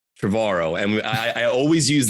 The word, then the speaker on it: Trevorrow: hawaii uh i think someone said trevor rowe and you said no it's like tomorrow travaro and i i always